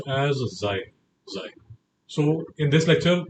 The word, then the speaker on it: xi: And it is pronounced as xi xi.